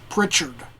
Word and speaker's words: Pritchard: The composer, I believe his name is pronounced Roland H. Pritchard.